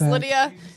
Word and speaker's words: Lydia: that that was gross did you just call me leah you got me up all right my name is lydia nothing rhymes with lydia